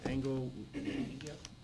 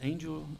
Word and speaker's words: Angel: Engel, So I think he pronounced it, Angel Rudiaga is the way he, Rudiaga?